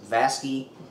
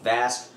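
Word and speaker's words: Vasque: I usually refer to them as Vasky. That's not right. That's not correct. It's actually Vask. Now, I know for certain that I'm not the only one who mispronounces that. That's typically how I hear it anyway, but it's Vask, not Vasky.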